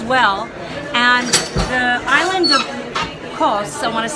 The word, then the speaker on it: Kos: And the island of Kos, I want to say it correctly, K-O-S, called me and said, no, you're bringing a group here.